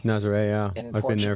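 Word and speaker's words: Nazaré: So Have you messed around with the, how do you pronounce it, Nazare? Nazare, yeah, In I've been there a few Portugal?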